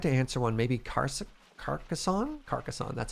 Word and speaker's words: Carcassonne: Carcassonne, that's how you pronounce that.